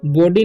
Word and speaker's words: body: ट, नॉट शी एनी बॉडी, ठीक है। तोड़ को पढ़ना है, ANY से एनी, BODY से बॉडी नहीं पढ़ना है, बॉडी पढ़ना है, ओ का उच्चारण यहाँ पर अ हो रहा है, ठीक है।